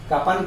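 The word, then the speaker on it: कृपण: का में री लगा दिए तो का से क्री इसको पढ़ने लगते हैं, का से उच्चारण क्री में बदल जाता है रीकार की मात्रा लगने से, तो बन गया कृपन।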